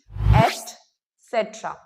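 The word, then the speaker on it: et cetera: सी ई टी ई आर ए जिसे अक्सर गलत प्रोनाउंस कैसे किया जाता है? एक्सट्रा करके बट इट्स नॉट एक्सट्रा इट्स एट सेट्रा एटसेट्रा all right तो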